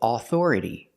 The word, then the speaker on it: authority: We don't say authority. The stress is on the second syllable, so the a u makes a short sound, a schwa, uh uh uh, because it's not stressed.